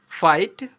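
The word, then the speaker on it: fight: एच टी में आया जी एच हमेशा साइलेंट रहता है। एग्जांपल पर एफ आई जी एच टी फाइट एल आई जी एच टी लाइट एन आई जी एच टी नाइट एम आई जी एच टी माइट ऐसे पढ़ते हैं।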